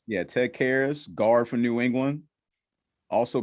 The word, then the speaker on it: Karras: Ted Karras. Yeah, Ted Karras, guard from New England.